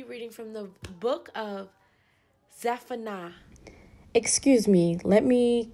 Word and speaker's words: Zephaniah: Today we will be reading from the book of Zephaniah. Excuse me, let me correct my pronunciation. It is Zephaniah. Don't drag me, guys. Zephaniah.